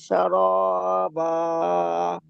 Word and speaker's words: شرابا: إلا ওয়ালা حميم শারাবা, শিন অক্ষরটি আপনার সিনের মতো উচ্চারণ হয়ে যাচ্ছে। ওয়ালা ولا শারাবা, ولا شاربا শা টান হবে না। ولا شرابا জি, সুন্দর।